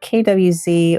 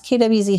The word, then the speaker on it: KWZ: This ink is KWZ, or I guess it's supposed to be pronounced Kavu-zet, and the color is honey.